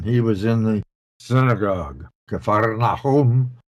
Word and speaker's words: Kfar Nahum: was in the synagogue, Kfar Nahum, as they pronounce it.